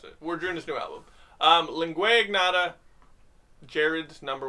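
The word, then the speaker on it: Lingua Ignota: So I've heard some people pronounce it lingua. Are you sure it's lingua?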